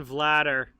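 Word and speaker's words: Vladař: kemsky was easy um pronunciation vladder it looks like vladder so it's stan vladder yes stan vladder in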